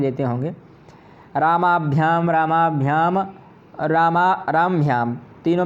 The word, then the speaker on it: रामाभ्याम: तो रामाभ्याम, रामभ्याम यह गलत है, रामभ्याम। यह आ का हमें पूरा उच्चारण नहीं करना, आ क्या है ही नहीं यहाँ पर, तो हमें रामाभ्याम कहना है। और रामभ्याम भी कह रहे हैं तो ये भी गलत है।